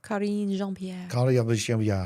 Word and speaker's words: Karine Jean-Pierre: Karine Jean-Pierre.